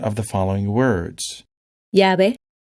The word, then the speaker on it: llave: You can tell that it's pronounced exactly the same as the letter Y, except when the Y is at the end of a word.